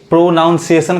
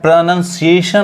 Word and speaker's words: pronunciation: प्रोनंसिएशन of English alphabets बहुत लोग इसको खुद ही यही गलती कर देते हैं प्रोनाउंस एशन कते हैं या प्रोनंसिएशन करते हैं जो कि क्या है गलत है इसका उच्चारण क्या है प्रोनंसिएशन ऑफ इंग्लिश अल्फाबेट्स यानी अंग्रेजी वर्णों का